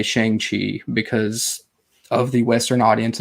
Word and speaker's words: Shang-Chi: And it's really pronounced Shang-Chi.